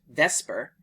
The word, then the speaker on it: VSEPR: receptors, but have different biological effects Valence shell electron pair repulsion theory (VSEPR, pronounced "vesper") is the simplest theory to explain ...